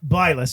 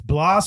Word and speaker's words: Blas: son son yes and it's not blus it's it's Blas or Blas Blas elas